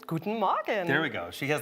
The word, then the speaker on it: Guten Morgen: Good morning from Vienna, or should I say, is it Guten Morgen? Guten Morgen. There we go. She has the pronunciation Exactly.